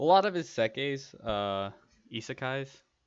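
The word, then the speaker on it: isekai: of his sekes uh isakai's i think is how it's actually pronounced i've always called them iseki's but lately i learned that that's not how you pronounce them i was like oh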